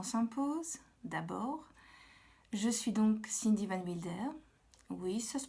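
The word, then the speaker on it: Cindy Van Wilder: une petite présentation s'impose d'abord je suis donc Cindy van Mulder oui ça se prononce ainsi du moins moi je prononce ainsi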